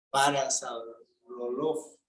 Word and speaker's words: Parasaurolophus: ¿Cómo pronuncia ese dinosaurio? Parasaurolophus.